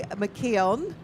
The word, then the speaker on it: McKeon: experience I won't forget Jody McKeon and she assures me that is the right pronunciation of her name driving Royal Walker and